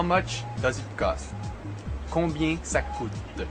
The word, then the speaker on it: combien: Most French people would pronounce this word combien with the nasal sound at the end sounding more or less like très bien, which you've heard me say often. Again, that sound is basically bien, so the French pronounce combien and très bien.